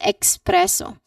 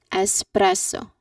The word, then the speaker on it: espresso: So here people mistakenly pronounce it as expresso. Again expresso that is not the correct pronunciation of this word. It it should be no x sound. So we say it as espresso. It start with a simple s sound.